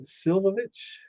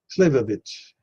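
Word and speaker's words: slivovitz: Now, have you ever heard of Silvovich?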